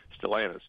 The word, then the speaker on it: Stellantis: Is that how they pronounce that? What Chrysler changed their name to? Stellantis.